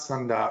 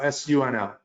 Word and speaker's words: SUNL: Okay, no, not sundial, SUNL. Sorry, SUNL. Sorry that if I mispronounced it. I could have said sundial, it's SUNL.